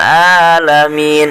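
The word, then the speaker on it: العالمين: lanjut Hai Dil alamin sini ada huruf Ain Robby lah main keluar dari tenggorokan bagian tengah ya makhrojnya huruf Ain itu tenggorokan bagian tengah jadi cara pengucapannya telaah bukan huruf hamzah rabbil alamin nah ini tidak boleh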